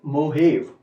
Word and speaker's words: Mojave: वन इज मोजेव, MOJAVE, एंड the pronunciation is मोहेव. JA लिखेंगे, मोहेव बोलेंगे, लेकिन मोहेव डेजर्ट.